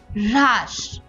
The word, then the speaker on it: হ্রাস: ধ্বনি শোনা যায় যেমন হ্রাস এখানে কিন্তু হ এর উচ্চারণটা র এর পরে এসেছে একইভাবে চিহ্ন অপরাণ ব্রহ্মান্ড